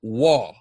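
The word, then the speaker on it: Roy: There's a top hockey guy back in the day named Patrick Waugh, right? Patrick Waugh's name is spelled R-O-I, right?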